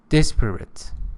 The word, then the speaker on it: disparate: Disparate. First syllable is stressed.